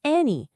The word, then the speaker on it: Annie: Say Annie, but make each syllable clear with Chinese sounds. An, ni.